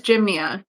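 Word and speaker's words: Gynma: Oh, the other one is Jimnia. So it's spelled like Jim. G Y N M A.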